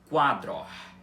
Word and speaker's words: quadro: O Q, o A de quá tem a mesma pronúncia que o nosso, tá? Então fica aqui a pronúncia da palavra para vocês. Quadro.